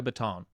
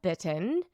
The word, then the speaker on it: Bitton: It's Bitton. It's Bitton. I knew the correct pronunciation. I knew it was Bitton.